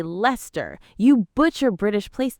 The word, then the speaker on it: Leicester: You say Leicester, we say Leicester.